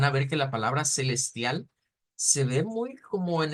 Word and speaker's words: celestial: lo menos en Brasil en Brasil No la vamos a pronunciar como celestial sino como Celestia o sea como cambiar esta e esta u esta L por una u aparece también esta otra